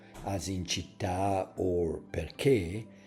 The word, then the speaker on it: perché: like in a word perché. Pay attention. Perché is stress in the last syllable, and the letter A